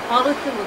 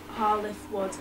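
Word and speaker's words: Hall i' th' Wood: The name represents Hall I'th Wood, spoken in the local regional English dialect, and is pronounced Hall I'th Wood.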